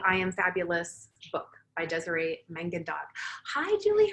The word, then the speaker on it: Desiree Mangandog: This is based on the book by Desiree Mangandog, is how you say her name.